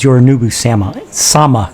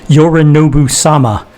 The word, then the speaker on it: Yorinobu-sama: He doesn't refer to Yorinobu as Yorinobu-sama. Sorry, bad, my pronunciation's horrible. Yorinobu-sama.